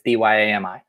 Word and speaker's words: Dyami: some Dynasty rookie drafts, and it's Dyami. Yeah, all right, you nailed it. It's not spelled like Miami, despite what people may think out there.